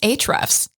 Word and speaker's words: Ahrefs: It's actually pronounced Ahrefs. Oh, sorry, my bad.